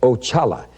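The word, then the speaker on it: Oxala: spelled o x a l a and it's pronounced oala and he is the head of all spirits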